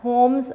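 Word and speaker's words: Holmes: होम्स। यहाँ पर students जो L है दैट इज़ साइलेंट। पोइट के नेम में L जो है वो आपने नहीं पढ़ना, W.F. होम्स आप इसे पढ़ेंगे, राइट।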